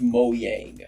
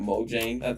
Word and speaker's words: Mojang: with people saying it Mojang you can pronounce it however you want but because it is a Swedish company then the way they